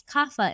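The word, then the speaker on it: Kapha: And kafa, which we pronounce kafa in the west, is an earth person.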